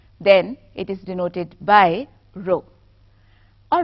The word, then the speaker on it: rho: Rather, it is denoted by the Greek letter rho. नहीं, रोने धोने की बात नहीं हो रही. It is a Greek letter जिसको हम rho pronounce करते हैं, और अगर आप उसे स्पेल